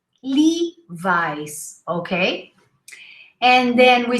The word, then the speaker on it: Levi's: teachers did you know we don't say levis we say levi's lee vice okay and then we